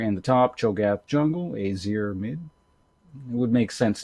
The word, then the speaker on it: Azir: in the bottom lane or azir i should say easier is the way i've personally pronounced it since he was released because i think it sounds better but i realize when i'm doing commentary i should probably use the proper name so uh yeah in